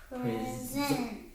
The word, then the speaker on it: present: They said, say, present. Yes, I'll present this award to you.